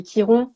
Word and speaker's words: Chiron: que il y avait Kiron ou Chiron ça dépend comment on le prononce qui est dans ta